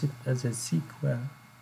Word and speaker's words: SQL: have SQL or sequel that will be proud pronounce it as a sequel it's a standard and we have some application